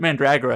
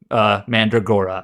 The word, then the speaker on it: Mandragora: Anyways, in the game, they actually pronounce it Mandragora. Mandragora, yeah. But apparently it's sort of either.